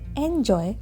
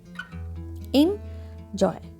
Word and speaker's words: enjoy: I sound here so here how will you pronounce it this is not enjoy this is enjoy injoy okay here we don't have